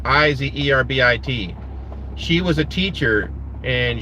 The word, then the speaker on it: Iserbyt: Charlotte Iserbyt, or Iserby. It's pronounced Izerbit.